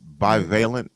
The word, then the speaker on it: bivalent: now I'm going to keep using this word bivalent is that right am I saying it correctly